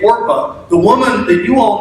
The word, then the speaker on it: Orpah: One of them's married to Ruth, and the other one is named Orpah. Her daughter-in-law, Orpah. Now, fun fact about the name Orpah, the woman that you all know as Oprah actually was originally named Orpah.